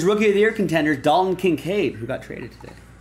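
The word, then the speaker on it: Dalton Kincaid: hockey player here's Rookie of the Year contenders D can cave who got traded today not D concave Pat L this will be for the bills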